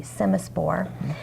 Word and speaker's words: Semaspore: s m a s p o r e semaspore and it's a grasshopper bait that has it's